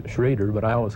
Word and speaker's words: Schroeder: Actually I suppose he is his name is pronounced Schrader but I always call it Schroeder he was named after a friend that I used to caddy with back in st.